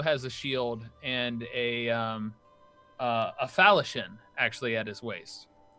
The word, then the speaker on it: falchion: He also has a shield and a falchion actually at his waist. Or falchion, as most of us pronounce it.